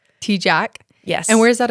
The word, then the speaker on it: Tejcek: Okay, well, pronounce your full name, and because I know I say your last name wrong. Everyone does. It's okay. So Riley Tejcek. Tejcek?